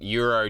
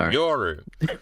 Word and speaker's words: Yoru: So maybe she knows that Euro doesn't want to do it. Did I say it right, EliteAri? No, Yoru.